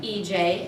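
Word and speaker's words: Ije: My name is EJ. It's spelled I-J-E, not EJ. But, EJ, but I'm from Prince George's County, Maryland.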